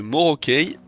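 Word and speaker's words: Morokei: Les capes de Evn Norac et cette fois-ci, je le prononce bien, celle de Morokey et celle de Nakrine que j'ai sur moi.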